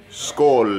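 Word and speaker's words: skål: fries milkshake we are happy cheers buddy cheers school is how you say cheers in Swedish food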